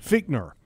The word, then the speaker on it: Fichtner: his quarterbacks coach Randy how do you say it Fichtner feat nur Rainey Fichtner and then